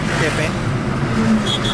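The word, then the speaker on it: Quepem: Then you would get Tiswadi, then you would get Salset, then you would get a little bit of Kepem, spelled as Q-U-E-P-E-M but not pronounced as Q-P-E-M, Kepem.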